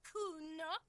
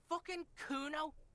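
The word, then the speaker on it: Cuno: me to nick it kuna no i didn't it's kuno say it right say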